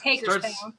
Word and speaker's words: Hagerstown: It's Hagerstown.